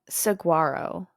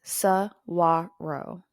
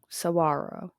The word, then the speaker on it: Saguaro: um so it's not Saguaro like it looks it's saaro saaro so the g is silent okay I I could